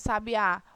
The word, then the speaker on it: sabiá: Em sabiá, qual é a sílaba tônica de sabiá? O a final, né?